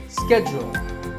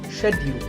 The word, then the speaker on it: schedule: and in the US in American English this is schedule the first syllable is sket and the second is to schedule in British English it can be both schedule or Shecky so you can choose the pronunciation that's right for you number 48 is the